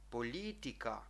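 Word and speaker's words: politika: що хочу сказати що в словах іншомовно походження як у слові політика хоча стоїть і м'яке коротке але в чехи його вимовляють твердо політика так граматика запам'ятайте це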